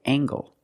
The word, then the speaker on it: angle: Use the nasal plus the hard g. Angle.